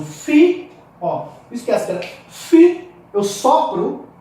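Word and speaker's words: φ: E nas consoantes aspiradas, nós temos o fi, esquece, fi, eu sopro. O que é aspiração? É pneuma, quer dizer sopro. Pneuma, ou pneumata, os sopros. Pneuma, sopro. Então, quando eu pronuncio fi, eu tipo sopro.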